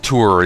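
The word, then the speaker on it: Thor: O R, you know, the Thunder God guy, Tor, T O R, Tor. So yeah, that's apparently the correct spelling. Tour is apparently the correct pronunciation of it.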